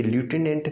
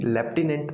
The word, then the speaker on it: lieutenant: तो ये ल्यूटिनेंट नहीं, लेफ्टिनेंट बोला जाता है।